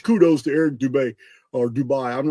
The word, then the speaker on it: Dubay: a hey, much kudos to Eric Dubay or Dubai. I'm not for sure how to pronounce his name. Yeah, Dubay.